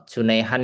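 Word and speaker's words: جنيه: Kalau Junaihan ini di sana tuh bacanya geneh ya.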